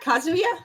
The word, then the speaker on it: Kazuya: Yeah, Kazuya. Kazu. Okay. I also like I couldn't remember. I'm like, I know this game. Like I know this series. Why can't I'm saying it? Right, Heihachi, Kazuya, and Mina.